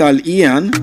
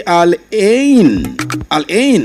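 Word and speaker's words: Al Ain: Some said I' some people have called it alian. Alon it is spelled a l a i n is simply alen.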